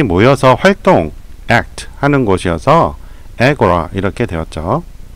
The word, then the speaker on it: agora: 영어식 발음은 에고라입니다. 사람들이 모여서 활동, act 하는 곳이어서 에고라 이렇게 되었죠. 발음 들어보세요. Agora, Agora.